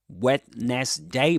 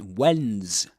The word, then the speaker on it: Wednesday: You don't say wetness day, but Wednesday's Wednesday. And this is the phonetic the phmic transcription, right? When's Wednesday. Two syllables.